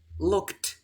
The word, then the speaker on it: looked: Voy a pronunciar look con T y luego con D para que veas la diferencia, ¿ok? 3, 2. Looked.